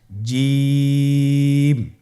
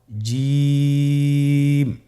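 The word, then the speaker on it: جيم: আপনারা আমার সাথে করুন জিম মাশআাল্লাহ আবার বলুন জিম আপনারা চেষ্টা করুন হয়ে যাবে এর মাখরাজ হলো জিহ্বার মধ্যখান তার বরাবর উপরের তালুর সঙ্গে লাগিয়ে উচ্চারিত হয় আপনারা পিকচারে ছবিতে দেখতে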